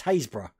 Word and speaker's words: Happisburgh: Happisburgh in Norfolk, which is Haysborough, but it's spelled Happisburgh.